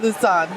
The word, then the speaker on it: Lausanne: Lausanne.